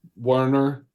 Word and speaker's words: Werner: spelled with a W. So the German. Are both with a W? No. So it's Werner, Werner, Verdigre, spelled like the typical verdigris of with a V.